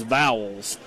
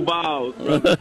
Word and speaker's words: Vols: I think you need to say Vols. Because Aaron Hayden, who's from Detroit, Michigan, says Vowels. How do you say it, Coach? Go Vols.